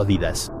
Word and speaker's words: Adidas: Dependiendo de dónde seas, puede que lo pronuncies Adidas o, personalmente, yo siempre he escuchado Adidas.